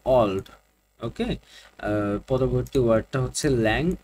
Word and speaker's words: Auld: তো আমরা একটু আগে যে উচ্চারণ দেখেছিলাম যে এটার উচ্চারণ হবে অলড।